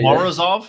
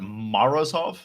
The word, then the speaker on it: Morozov: So next time I see him, I'll say Morozov, and they'll be like, "Damn!" No, don't say Morozov, that. But Morozov.